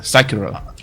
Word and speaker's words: Sekiro: to pronounce that. Sekiro.